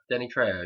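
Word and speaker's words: Danny Trejo: Danny TR TR am I saying it right Danny tro Danny tro yeah tro well he shows up after the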